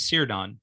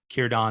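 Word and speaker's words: Círdan: pronounced cured on right you might look at that and want to pronounce it as cyridon right but it's actually cured on whenever you see a c by itself like that is pronounced as a heart as a k sound right kiran of the grey havens so there's a lot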